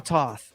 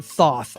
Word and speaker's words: Thoth: uh I'm not sure Toth I'm a Thoth I always say Toth I always think that H is silent at the beginning of Your Name Lord Thoth I don't